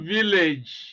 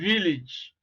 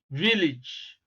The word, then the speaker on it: village: which represents the sound e Village is not Village you know are some people pronounce it it's Village Village okay so we are looking for the word